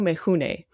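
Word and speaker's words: Mifune: We wanted to make sure we pronounced his name correctly. So it's Toshiro Mahune.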